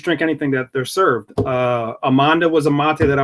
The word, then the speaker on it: Amanda: It's spelled Amanda, but in Spanish, Amanda is the pronunciation.